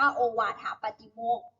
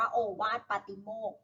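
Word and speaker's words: โอวาทปาฏิโมกข์: ก็ ได้ นะ คะ ใน หนังสือ บาง เล่ม อ่าน ว่า โอวาทะ ปฏิโมกข์ บางเล่ม อ่าน ว่า โอวาท ปาฏิโมกข์ นะ คะ อ่ะ ใน เหตุ การณ์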